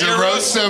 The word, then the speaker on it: DeRosa: I never realized my last name rhymes with mimosa.